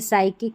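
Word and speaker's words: psychic: अब इसमें पी एस से शुरू होगा तो पी का उच्चारण नहीं होगा, तो इसको देखिए साइकोलॉजी पढ़ेंगे, साइकिक पढ़ेंगे, साइकाट्रिस्ट पढ़ेंगे, और ये है साइकाट्री, साइकाट्री, ठीक है, इस तरीके से प्रोनाउंस करेंगे।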